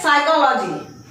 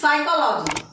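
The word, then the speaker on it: psychology: ऐसे ही ये स्पेलिंग आप गेस नहीं कर सकते कि पी से स्टार्ट हो रही है तो ये स्पेलिंग एस कैसे दे सकती है ना। और जबकि ये स्पेलिंग है साइकोलॉजी, इट इज साइकोलॉजी।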